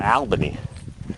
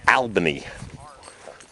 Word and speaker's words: Albany: the former capital before Albany can always tell when people are from Fury they say Albany it's Albany a l l second L is silent it's also not even